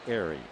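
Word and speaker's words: Ehire: E-H-I-R-E, pronounced Airy.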